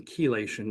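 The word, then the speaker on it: chelation: for detox and galenium it's actually better than kelation which is the pronunciation by the way uh is better than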